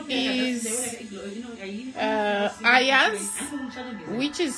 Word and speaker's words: Ayaz: His name is Ayaz, which is spelled A Y for Yankee A Z.